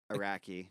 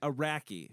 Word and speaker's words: Araki: It's just spelled how it sounds. Yeah, just Oh, say yeah, it like sure. It that. is spelled how it Just sounds. like, Iraqi. just like if you met a dude from Iraq, he'd be an Iraqi, Pretty much, yeah.